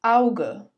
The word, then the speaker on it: Auge: When a and u come together, it is pronounced as au. For example, das Auge, die Augen, das Auge, die Augen, blau, blau, bauen, bauen.